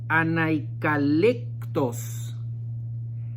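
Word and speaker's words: ἀνεκλάλητος: Hay una palabra que se usa en este versículo y quise ponerla ahí, que es la palabra anaikalektos. Anaikalektos, así se pronuncia, y significa inexpresable, o sea, es increíble cómo poder decirlo.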